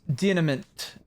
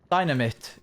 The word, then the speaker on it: Dynamit: It's dynamit. Dynamit. Dynameit is how I would assume that would be pronounced.